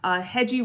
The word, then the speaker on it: Hedgie: Hedgie rhymes with edgy, so that's where I came up with that idea.